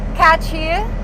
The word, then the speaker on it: Katchii: Katchii.